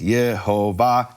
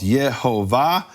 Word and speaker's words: Yehovah: I can show you from Jews from this period and earlier and later, who said the vowels are Shva, Cholam, Kamatz, Yehovah, explicitly, not an opinion.